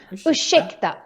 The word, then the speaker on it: ursäkta: And just like we mentioned with the word varsågod, ursäkta also has this sh sound because we have an RS put together. So important that you pronounce this as ursäkta and not ursäkta.